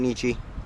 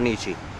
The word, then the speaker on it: Nietzsche: grandfather even tell you about Nietzsche? Yes, actually. He, Can you tell us anything about Nietzsche? His name rhymes with peachy.